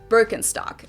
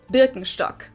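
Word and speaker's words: Birkenstock: English speakers usually say burkenstock in German we say bstock bstock bstock which literally the S is basically sh translates to Birch stick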